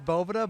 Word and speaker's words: Bovita: It is Bovita, but hey, everyone says Bovita, or it's a bunch of different things.